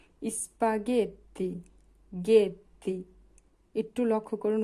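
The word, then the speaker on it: gatto: যেমন জি এর সাথে আছে উচ্চারণ হবে গা গা গাত গাত মানে হচ্ছে বিড়াল জি এর পরে যদি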